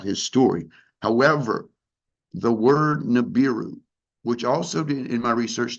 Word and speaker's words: Nibiru: And that is pronounced Nibiru with a rolling R at the end, Ru, right? Nibiru.